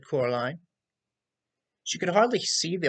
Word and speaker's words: Coraline: mice they get things wrong they got your name wrong you know they keep saying Coraline not Caroline not Caroline at all he picked up a